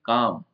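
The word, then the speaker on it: calm: चीज उज्जवल है व नेक्स्ट है काम काम का मतलब होता है शांत इसमें एल साइलेंट है शांत या स्थिर केयरफुल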